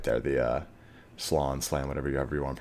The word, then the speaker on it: Slann: Lizardmen world is spawned with solely protecting the Slann right there, the Slann, whatever you want to pronounce it.